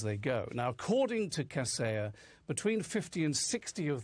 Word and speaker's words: Kaseya: I thought it was Kaseya, and it turns out to be, I think it is Kaseya.